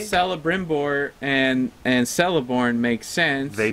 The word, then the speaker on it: Celebrimbor: When you have the letter C at the beginning of an Elvish word, Celebrimbor. It's Celebrimbor or Celeborn. It's never C.